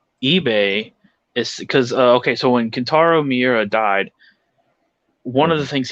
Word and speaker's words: Kentaro Miura: I think its name is Kento Miura.